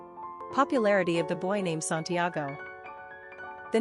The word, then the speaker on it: Santiago: Pronunciation, Santiago.